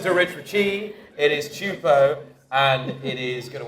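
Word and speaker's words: Teahupoo: T isn't it yeah he's got this it's tioo your accent on the wrong salable is it don't listen to Rich Richi it is chupo and it is going to win the stairs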